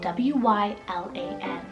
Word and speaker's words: Wylan: It's the name Wylan, spelled W-Y-L-A-N.